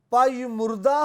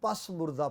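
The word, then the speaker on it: پژمردہ: کرتا ہے، کیونکہ میں پائی مردہ ہو گیا ہوں۔ پائی مردہ، پرانے دور میں اس لفظ کو لوگ پس مردہ پڑھتے تھے، اس کا جو تلفظ صحیح ہے وہ پائی مردہ ہے۔ زبور نویس کہتا ہے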